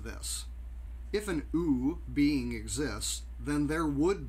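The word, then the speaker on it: OOO: Okay, now this is a little goofy, but O-O-O, which she pronounces ooh, stands for omniscient, omnipotent, and omnibenevolent.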